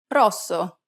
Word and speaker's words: rosso: Finally, whenever you have a double S, you need to say it with more emphasis. Pronounce it for longer than you typically would in English. Listen to the examples. Cassa. Rosso.